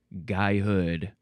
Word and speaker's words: guyhood: Next we have guyhood. The word is G-U-Y, which looks very strange. Between the spelling and the pronunciation, my brain is like, what? Looks like gooey, but it's guy.